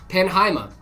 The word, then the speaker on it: Penheima: Not a single person I met pronounced my name right the first time, so I don't worry about it. It's Penheima. Panha.